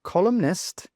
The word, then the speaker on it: columnist: But when we pronounce columnist columnist, well we do pronounce that in sound.